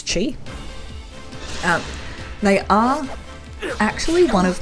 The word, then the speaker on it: Chi: Please let me know if I am saying that wrong, but I'm pretty sure the QI is meant to be pronounced as Chi.